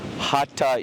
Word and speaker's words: Hatha: We say Hatha or Hatha Yoga, but if you can say like duh, and put a T on it, ta, Hatha Yoga is really the correct way of pronouncing it.